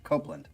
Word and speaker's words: Copland: composer Aaron Copland, pronounced Copland. Yeah. Yeah, I didn't think it would be Copland, even though there's no E.